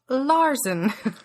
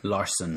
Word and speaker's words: Larson: then this is the musical that came before Rent, and it is by Jonathan Larson. Larson.